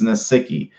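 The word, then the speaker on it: Nsekhe: It's Nasicki.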